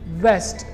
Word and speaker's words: west: Lip upper teeth से touch हो रहा है, वेस्ट। अगला जो वर्ड है उसकी स्पेलिंग है WEST और उसका करेक्ट प्रोनाउंसिएशन होगा वेस्ट, वेस्ट।